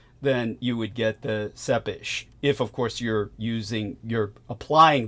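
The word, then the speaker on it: Țepeș: Yeah, the way Americans would pronounce it, they'd call him something like Vlad Tepes or Tepish. Tepes, they would say, but that's a terrible mispronunciation. The Romanian language, it would be Sepish.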